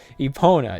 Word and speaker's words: Epona: wait, what's the correct pronunciation? Epona? Yeah, that's what it is. Epona.